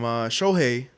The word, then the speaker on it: Shohei: Shohei.